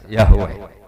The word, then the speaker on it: Yahweh: Ya paham ya, Tuhan Yahudi tunggal niku Yahweh, napa? Ya, itu nak tengejaan Latin Y besar A H besar W E H besar Yahweh.